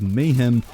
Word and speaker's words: MAHEM: I realize it is spelled mahm because the word mayhem is spelled with a Y, but I'm going to call it the Mayhem anyway because saying mahm just sounds kind of weird.